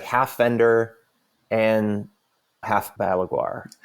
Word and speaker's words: Balaguer: And so now it's like live, it's like half Fender and half Balaguer, right now. I'm glad you're pronouncing that the right. I've always said beleaguer.